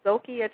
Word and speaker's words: Xocai: We have people that are actually promoting, it's called Zocai Chocolate, and Zocai Chocolate is spelled Xocai, and basically what that is, it's a chocolate that is more like a weight loss control chocolate.